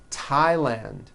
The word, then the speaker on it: Thailand: like to point out although these next words and names are spelled with a th they are pronounced as if they were spelled with a normal t like that and these